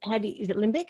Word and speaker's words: limbic: The limbic, is it limbic system? Is that how you pronounce it? Or survival brain is limbic system, that's right.